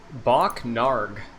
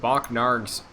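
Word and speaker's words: Bokk Naarg: repurpose him gotcha well uh my poll is bach narg what bach nard that is spelled b-o-k-k space n-a-a-r-g n-a-a-r-g yes bach narg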